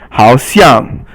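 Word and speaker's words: 好像: 好像, 好 is third tone, and 像 is fourth tone, and it means seems.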